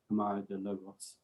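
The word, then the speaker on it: Câmara de Lobos: Camaro de Logos, that is indeed how you say it.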